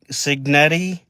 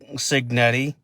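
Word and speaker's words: Cignetti: him in place, uh Curts Senetti, Signetti, that's how you pronounce it, I believe.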